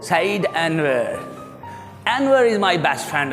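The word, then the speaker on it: Anwar: अनवर उर्दू में हमारे यहाँ अनवर ही चलता है, लेकिन अंग्रेज इसको एनवर बोलेंगे। क्रिकेट में आपने सुना होगा कमेंटेटर्स को, Saeed अनवर, अनवर इज़ my best friend.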